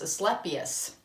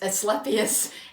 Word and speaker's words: Asclepius: and then also with, this is a terrible one to pronounce, Asclepius. It's Asclepius, and it is for physical healing, finding cures, and healing heartbreak.